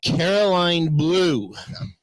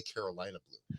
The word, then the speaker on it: Caroline Blue: let's start with your band, Caroline Blue. I appreciate that you're saying it right. Isn't that how it's supposed to be, right? Yes. Why? Who says it wrong? So many people say Carolina Blue.